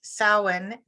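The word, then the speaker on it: Samhain: so according to Pagan tradition it's October 31st Salin and you do pronounce them a little differently um Salin is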